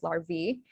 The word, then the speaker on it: larvae: The singular is larva, the plural is larvae, and you have that E sound as well.